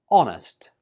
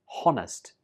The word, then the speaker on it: honest: but in this case, the silent letter is H. This word is pronounced honest. Honest. Don't pronounce the H when you say this word. So it's not honest. It's just honest.